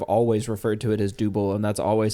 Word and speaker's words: Dubbel: it's still wrong but I have adopted double because I do believe that that is the regionally accurate way of pronouncing this delicious Style man I I uh